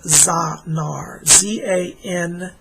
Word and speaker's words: Zanar: And you have a spirit guide around you named Zanar. Z-A-N-A-R. Zanar. Zanar is the name of your spirit guide. Z-A-N-A-R is how it's spelled.